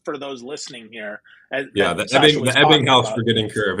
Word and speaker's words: Ebbinghaus: The Ebbinghaus forgetting curve. It's my favorite German. Yeah. Right? Yeah. No, I can't guarantee I pronounced that correctly. Who knows? No, it's Ebbinghaus. No, that's right. Okay. That's right.